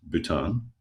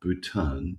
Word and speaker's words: Bhutan: country um called Bhut Bhutan. Yes. Um and it's spelled um with a silent H. It is. That's correct. HB U T A N.